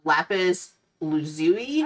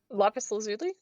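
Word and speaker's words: lapis lazuli: price what is what oh a gemstone a Lapis Loui oh oh yes you notice that you didn't try to uh correct me so you also can't pronounce it lais lazuli did I get it right yeah oh okay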